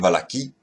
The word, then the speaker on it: Malachie: alors que certains prophètes, comme Malachie, ou Malachi, on le prononcera comme on veut, moi je préfère prononcer Malachie, on peut prononcer Malachi, je ne sais pas comment est-ce qu'il faut le prononcer exactement, mais Malachi, disons, allez,